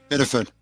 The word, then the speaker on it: Biddeford: And You got to say it like you're in Maine. Biddeford.